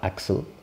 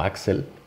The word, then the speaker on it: Axl: caso es un h entonces se llama acsur lo podemos pronunciar como axel porque si es un poco más cómodo que simplemente acsur y bueno como siempre